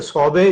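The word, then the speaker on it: סֹבֶא: में वो सौबे है, SOBE इंग्लिश में है, लेकिन जब इसको प्रोनाउंसिएट करें तो सौबे जो है वर्ड है।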